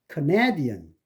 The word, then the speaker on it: Canadian: Canadian 앞에 있는 캐나다에서는 K가 액센트가 있으니까 K로 발음됐는데 여기서 여러분이 이제 카나다 사람 그럴 적에는 그 네의 액센트가 있으니까 앞에 있는 K가 아니고 슈아가 돼가지고 커가 됩니다. Canadian, Canadian. 그래서 약, 강약, Canadian. 네 음절이죠.